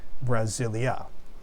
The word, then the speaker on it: Brasil: They liked it Brasilia. Okay, so, and even in the Portuguese language, the name, the country Brazil is pronounced Brasil. It almost ends with an oo sound, with like a vowel there.